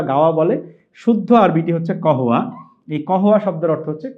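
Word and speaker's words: قهوة: গাওয়া আপনারা দেখবেন আরবের সবচেয়ে প্রসিদ্ধ খাবার হচ্ছে গাওয়া এবং খেজুর।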